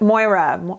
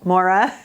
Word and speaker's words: Moira: Etc I finally found Moira Moira I want to say it like Moira like on schitt's Creek um the more Cosmetics